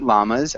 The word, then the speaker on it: llamas: I saw with pronunciation in English we say llamas so it's a a hard L can you repeat llamas Alan llamas yeah